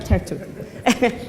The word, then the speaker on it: Tartu: But that's right, Tartu.